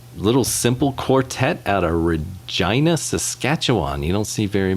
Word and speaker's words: Regina: that is yeah and it's hard not to say regina because that's how it's spelled but i'm almost positive it's regina i don't know maybe